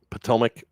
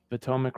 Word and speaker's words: Potomac: How do you pronounce it? Potomac? Potomac, yeah. Potomac River.